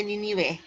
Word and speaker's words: Ninive: Ya, Ninive dibacanya Ninive sebagai ibu kotanya.